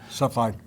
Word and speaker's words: Cepheid: Cepheid.